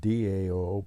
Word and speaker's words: Tao: now Daoism or the Dao and again it's pronounced Dao but it's spelled ta AO ta Tao or taism t AO